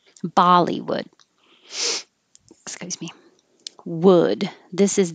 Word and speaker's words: Bollywood: d so weekend weekend bollywood the same as hollywood with a b and the first syllable vowel is ba bollywood excuse me wood this